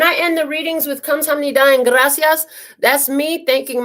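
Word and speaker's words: 감사합니다: You always end with saying "kamsida." I don't know how you say it. What is it? Kamsida? Oh, kamsamnida.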